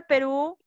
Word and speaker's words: Perú: La palabra Perú, ¿dónde tiene mayor fuerza de voz? Ru.